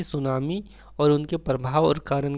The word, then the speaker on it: tsunami: अगर सुनामी लिखने आप नहीं जानते तो इसमें टी जो है वो साइलेंट वर्ड है।